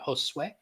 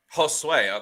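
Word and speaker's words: Josué: So pretty sure, and he can correct me, but Spanish pronunciation of that would be very similar to Jose. It would be Josue. Josue.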